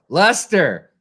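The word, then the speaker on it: Leicester: I'm I'm kidding hes hating on y'all guys Lester Lester that's right I forgot you guys pronounce things so weird oh I would never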